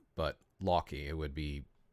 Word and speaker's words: Loki: you can pronounce it Loki but Loy it would be how you would say it in Icelandic um so I like